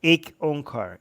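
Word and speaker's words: ਇੱਕ ਓਅੰਕਾਰ: Opening sentence is just Ik Onkar.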